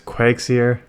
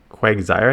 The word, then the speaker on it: Quagsire: no not Quake serious I always get yelled at by one of my subscribers Craig Zaire Quagsire I think is how they say to pronounce it because they always say it's not Quakes here so let me just